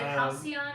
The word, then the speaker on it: Halcyon: Is it Halcyon? Am I saying it right? The Halcyon, yeah.